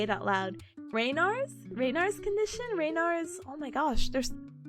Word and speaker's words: Raynaud's: Raynaud's condition?